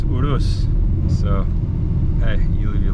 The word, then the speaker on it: Urus: show let's do this pronouncing eurus wrong the whole time and it's urus so hey you leave